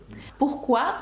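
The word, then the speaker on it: pourquoi: буквосполучення Q та ю дає нам звук к пухкуа французькою - це чому пухqu другий випадок коли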